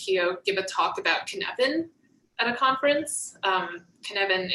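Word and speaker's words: Cynefin: watched um liz pio give a talk about kinevin at a conference um kinevin is a welsh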